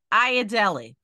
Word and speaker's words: Ayodele: or how would you like to be addressed aad Deli I oh so no wonder I don't remember that name can you spell that a y o d l e a